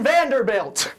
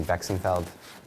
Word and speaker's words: Vexenfeld: Please welcome Vanderbilt. Oh, hey. Psych! Too slow. It's actually Vexenfeld, but it's okay. Uh-huh. Everyone gets my name wrong.